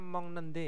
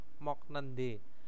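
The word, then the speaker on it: 먹는데: menjadi m nende ya bacanya Mong nende ya bukan mok mok nende Mong nende nah terus Jata menjadi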